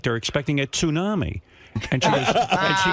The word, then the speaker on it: tsunami: And I said to my wife, "You know, they're carrying on like they're expecting a tsunami." And she goes and she goes, she goes, "Tunami?"